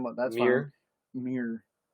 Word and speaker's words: Muir: Muir. Say it like red. Say a mirror, but more redneck.